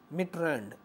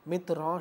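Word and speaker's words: Mitterrand: जैसे एक शब्द है मिट्रेंड, MITRAND, अगर हम इसे शब्दों की वर्तनी के हिसाब से देखें तो मिट्रेंड लिखेंगे, जबकि फ्रांस के उच्चारण के दृष्टि से हम देखें फ्रांसीसी भाषा में इसका उच्चारण जो है मित्रां शब्द है।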